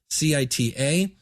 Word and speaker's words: vCita: Now, I use a thing called vCita, I believe is how you pronounce it. It's vCita.